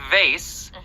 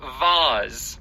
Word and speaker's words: vase: So there is, yes, technically in English you can say vase, which is the more common American pronunciation. Yes. And vase, which is more common in the UK.